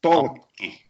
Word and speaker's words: Tolkki: Almost. It's Tolkki.